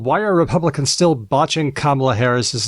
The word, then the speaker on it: Kamala: are Republicans still botching kamla Harris's name I'm going to make a confession here I might get this wrong every once in a while I might say it wrong and say Camala because I I'm not